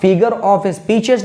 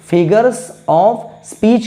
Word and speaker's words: figures of speech: सिक्स फिगर्स ऑफ स्पीच इसको आप फिगर ऑफ स्पीशीज नहीं कहेंगे फिगर्स ऑफ स्पीच कहेंगे और शब्द को बहुत